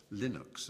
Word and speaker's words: Linux: It was known as Linux, or Linux, as some people pronounce it.